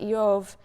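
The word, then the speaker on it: איוב: purposes the name job which in hebrew is pronounced yov is sort of bivalent in meaning it can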